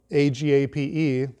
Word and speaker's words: agape: love you have is agape spelled a-g-a-p-e like a gape in English but it's pronounced agape we are told in